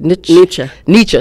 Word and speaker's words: Nietzsche: How's it pronounced? Mencken. Yeah. And he was a student of Friedrich Nietzsche. Nietzsche.